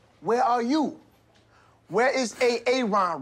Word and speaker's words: Aaron: you say it the first time I said a a Ron because it's pronounced Aaron you're done messed up Aaron now